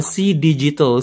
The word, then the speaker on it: CDigital: maksudnya apa sih ya CD bukan CD Tapi bacanya C digital C digital jadi aneh ya karena